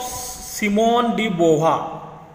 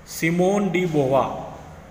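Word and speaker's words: Simone de Beauvoir: The writing of सिमोन डी बोवा, pronunciation ध्यान में रखो, सिमोन डी बोवा महिला का नाम है, हेल्प इन एस्टैब्लिशिंग, उन्होंने एस्टैब्लिश करने के लिए हेल्प किया द फंडामेंटल्स ऑफ फेमिनिज्म।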